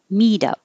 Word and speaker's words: meetup: r rests wrestles wrestles meet up the t changes to a d mido input and output so